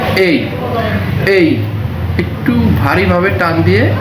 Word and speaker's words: A: তার মধ্যে সবচেয়ে গুরুত্বপূর্ণ বর্ণ আমরা একে মনে করি, কারণ এটা একটা প্রথম বর্ণ এবং এর উচ্চারণটা একটু ভিন্ন। তো এর উচ্চারণ আমরা স্বাভাবিকভাবে শিখছি এ, কিন্তু এর সঠিক প্রোনাউন্সিয়েশন বা সঠিক উচ্চারণ আছে এই।